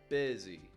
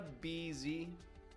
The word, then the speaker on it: busy: Busy. B-U-S-Y. Not getting a beezy or a bussy, but a busy.